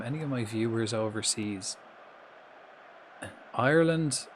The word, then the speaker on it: Ireland: Ireland. Ireland has two syllables. R. So it's like R like a pirate like R. Land. Ireland.